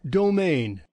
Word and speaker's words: domain: let's move on to the next word domine according to what the pronunciation we have here domine because listen to it domain and it's also now